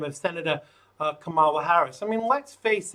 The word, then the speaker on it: Kamala: on fox good scene said her name is pronounced ho like ho i'm joking he said comma like the polenta asian ma kamala replied that saying someone's name correctly is kind